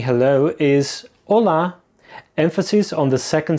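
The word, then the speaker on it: Olá: Now, another way of saying hello is hola. Emphasis on the second syllable. Hola. It's important here not to confuse it with the Spanish hola, which has its emphasis on the first syllable.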